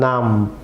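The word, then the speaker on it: numb: যেমন নাম, এখানে বি সাইলেন্ট থাকবে, নাম।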